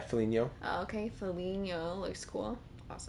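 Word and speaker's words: Foligno: just curious let's see folino how do you say that yeah Felino okay Felino looks cool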